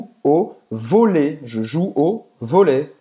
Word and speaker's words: volley: Je joue au volley. Ou seja, finge que esse Y no final não existe.